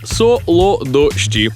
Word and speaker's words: солодощі: солодощі солодощі солодощі солодощі все ж солодощі наголошуємо першу о і ніяк інакше солодощі солодоші солодощі солодоші солодоші наголос на перший склад зафіксували окей окей навчусь